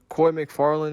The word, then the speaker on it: Koy McFarland: Koy McFarland is how you say his name.